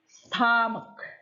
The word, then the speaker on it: stomach: Stomach. Nah, tulisannya seperti itu, tetapi membacanya stomach. Stomach.